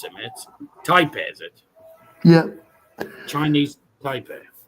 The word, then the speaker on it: Taipei: Just put check against tap. Tap is taipe not tap.